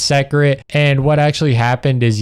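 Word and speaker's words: Seikret: I think it's secret.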